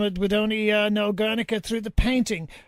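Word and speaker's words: Gernika: And, of course, your pronunciation first was correct. It is Guernica, and the pronunciation Guernica is a Spanishization of it.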